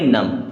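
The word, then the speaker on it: numb: कि पढ़ना क्या है एन यू एम बी इसे हम पढ़ेंगे नम क्या पढ़ेंगे नम के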